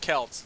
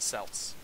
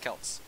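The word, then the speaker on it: Celts: so here you go and yes it's pronounced Kelts it's not pronounced selts it's pronounced Kelts in this context so here we go uh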